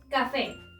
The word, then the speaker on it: café: Café. Café. La sílaba tónica o la que suena más fuerte recae en fe, por lo tanto es la última sílaba y al terminar en una vocal podemos colocarle la tilde.